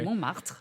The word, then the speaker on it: Montmartre: Montmartre, perfect.